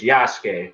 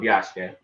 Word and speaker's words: Yasuke: His name was Yasuke, Sasuke from Naruto. Yeah. Replace the S with the Y. That's how you say his name, Yasuke.